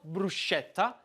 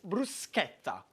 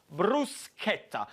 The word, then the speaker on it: bruschetta: it's called bruschetta now the first lesson is very simple is the way you pronounce it in not bruschetta by is bruce Skepta what you want to put the accent on is this Bruce kepta and I love this